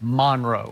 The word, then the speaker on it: Monroe: more North Central Louisiana Monroe right that's how you say it Monroe cuz when I was there I thought it Monroe but they say Monro right Monro Monro so when